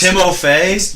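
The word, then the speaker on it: Timothée: No, it's Timofey?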